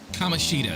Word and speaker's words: Kamoshida: Kamoshida, that's how you pronounce his name.